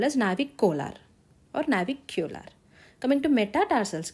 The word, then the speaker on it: navicular: Coming to navicular, remember it like navicolar. Pronounce it as navicolar.